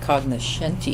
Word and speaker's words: Cognoscenti: So Cognoscenti is, I think I'm actually supposed to pronounce it Cognoscenti, but I never do.